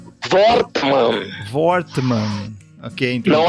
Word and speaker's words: Wortmann: Como é que é o temudo, é Ricardo Wortmann. Wortmann.